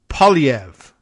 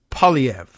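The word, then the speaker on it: Poilievre: says for me the uh opposition leader is pronounced POV okay so p o i l i v r e POV like I guess they dro the in there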